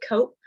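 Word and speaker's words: COAP: loans um at yale the program is c-o-a-p um i think it might be called i think they might pronounce it cope um but it's it's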